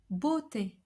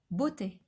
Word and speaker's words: beauté: So each time we have an EAU, we should pronounce a closed O, comme like in the word beauté, beauté, which means beauty, or cerveau, brain, cerveau.